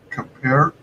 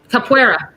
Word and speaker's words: Capoeira: Now I keep forgetting how to pronounce this. Capoeira. Capoeira.